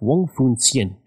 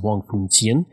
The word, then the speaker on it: Wong Foon Sien: I took 3 years of Mandarin in high school, so I believe it's pronounced Wong Foon Sien.